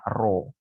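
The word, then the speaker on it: ρ: dilambangkan dengan roh ini seperti huruf P tapi bukan p ini bacanya roh begitu yang bergerak antara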